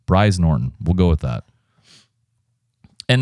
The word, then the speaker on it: Brize Norton: Uh, it's the Britain's largest Royal Air Force base, Brize Norton. B R I Z. I think you said it rhymes with prize. Bri Norton, we'll go with that.